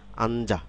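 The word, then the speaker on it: 앉아: হ্যাঁ, আঞ্জা অর্থাৎ বসা, সিট ডাউন, আঞ্জা। হ্যাঁ, এটি কিভাবে হলো? খেয়াল করুন, এই ডাবল কনসোনেন্ট প্রথমটি ঠিক থাকলো, কিন্তু পরের কনসোনেন্টটি কিন্তু পরবর্তী যে ভাওয়েল রয়েছে সেটার সাথে আমরা একত্রিত করে উচ্চারণ করছি।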